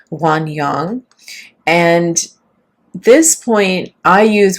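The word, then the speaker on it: 涌泉: That's how we would say in English or the original pronunciation would be wan yang.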